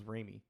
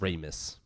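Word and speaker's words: Ramis: I thought it was Remy.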